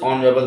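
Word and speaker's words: honorable: ठीक, for Brutus is ऑनरेबल मैन, for Brutus is, बड़ा आसान है, मैन यहाँ लिखा है, यहाँ ऑनरेबल लिखा है, तो ऑनरेबल में एच साइलेंट होता है, एन लगा दीजिए इसमें।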